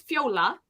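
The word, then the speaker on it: Fjóla: my mom's name is Fiola which is uh the Icelandic word for Violet and but it's spelled f-j-o-l-a um the J is like a y sound in our language so I think it's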